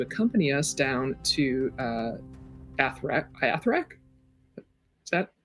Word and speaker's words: Athurack: Athurack? Is that how you say it? Athurack.